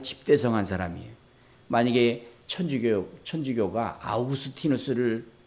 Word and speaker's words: 아우구스티누스: 교부 중에 아우구스 티누스라는 사람이 있어요. 아우구스 티누스.이 이 아우구스티누스 영어식 발음은 어거스틴인데이 아우구스티누스는 은총의 박사예요.